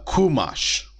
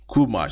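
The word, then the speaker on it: חומש: Jewish circles you'll also see the word uh kumash kumash c h u m a s h kumash which in Hebrew just means one or just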